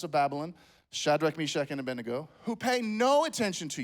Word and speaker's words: Abednego: So my whole life I've said Abednego. Pastor Jeff likes to say, to bed we go, apparently. I heard the message last week, right? It's Abednego.